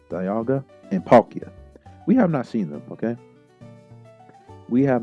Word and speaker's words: Dialga: We have not seen Diagla. Man, bad pronunciation. Dialga and Palkia.